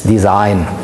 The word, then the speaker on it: design: to the Industrial Revolution, and this is the time since we pronounce it the English and not the Italian way. So the German word for design is design.